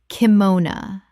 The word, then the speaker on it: kimono: Correct pronunciation. Kimona. Three syllables with the final o reduced to uh in English speech.